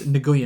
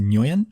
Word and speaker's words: Nguyen: It's Nguyen. I think it's pronounced Nguyen. Nguyen. That's Vietnamese.